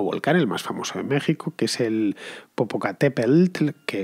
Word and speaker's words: México: sacada del equis pero la pronunciación es con jota así que ya sabéis en español se dice méxico y se dice texas aunque se escriban con